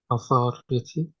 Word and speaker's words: authority: go got it again when you have a u at the beginning it turns into o Authority get Authority the same as when you say um in Indonesian we don't say Automotive but we have actually said Automotive the same Automotive in English a u becomes o Authority automative Authority ah let's